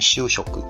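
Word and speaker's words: 修飾: Ini bacanya Shushoku ya, modifikasi dari kata.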